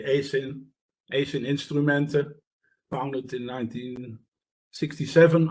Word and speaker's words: ACIN: okay well thanks a lot for the opportunity uh to do this um you pronounce our name acin we normally say Asin Asian instruments founded in 1967 I started working there in 2001.